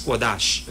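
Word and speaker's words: קדוש: And in Hebrew, it is pronounced as kodash.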